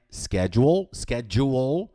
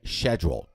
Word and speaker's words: schedule: A pronúncia americana é schedule, e a pronúncia britânica é schedule. Tem o som do SH, schedule.